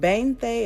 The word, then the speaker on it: veinte: can see it but veinte is how it's spelled but bang thee is normally how they pronounce it like the B's and the v's sometimes will will go back and forth it'll be an alternate thing with the sounds um and I'll go